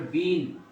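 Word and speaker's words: been: কোনোটার সাথে বিন যুক্ত, বি ডাবল ই এন, এটা উচ্চারণ হবে বিন। আগেরটা ছিল বিং, এগুলো উচ্চারণ হচ্ছে এটা বিং। এটা উচ্চারণ আমরা বলতে বয় রস্বইকার অনুস্বার বিং উচ্চারণ। আর এখানে হবে বি ডাবল এন বিন, বি ডাবল এন বিন, বিং আর বিন।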